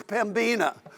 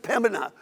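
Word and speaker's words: Pembina: he came here was pambina and then i so now i finally got it down to pimpin and people say we don't even pronounce the b anymore just pemena and so so we're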